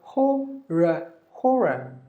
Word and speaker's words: horror: And here, one R is silent, another R is silent. So horror. This is horrible. This is horror. Two syllable.